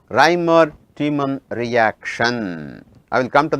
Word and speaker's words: Reimer-Tiemann: The pronunciation is Reimer-Tiemann reaction.